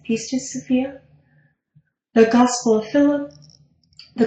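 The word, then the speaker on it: Pistis Sophia: hack it I'm sorry she said the pce to sopia and it's spelled p i s t i s peace to Sophia the gospel of Phillip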